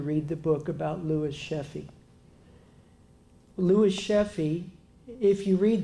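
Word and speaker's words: Sheafe: The book was about a man by the name of Louis Sheffey. I may be mispronouncing his last name, but it's spelled S-H-E-A-F-E.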